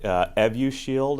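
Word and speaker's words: Evusheld: she's talking about yeah so the astrazeneca product evu shield as it's pronounced is a combination of two monoclonal antibodies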